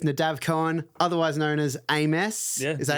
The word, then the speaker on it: aMess: I'm here with Nadav Cohen, otherwise known as aMess. Yeah, is that how you pronounce it?